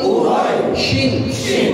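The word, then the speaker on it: قريش: যেখানেই তানবিন আসবে সেখানে একটা উচ্চারণ কিসের উচ্চারণ হবে? নয় উচ্চারণ হবে শেষে।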